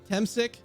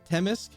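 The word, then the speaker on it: Temsik: Temsic? Have I been doing that the entire fucking game? Temsic? Not Temisk?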